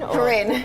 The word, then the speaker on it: Corinne: How do you say your first name? Is it or Corinne? Corinne. Corinne, all Yes.